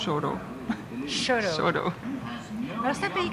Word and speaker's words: Chouteau: Et une rue qui s'appelle Chouteau. Ce sont des noms français qui se prononcent Choro.